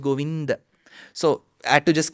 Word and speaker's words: Govinda: wrong because generally so that is wrong the north Indian pronunciation of Ram gosh that is also wrong so it's neither Ram nor Rama it is Rama it is neither goind nor goinda it is goinda so I had to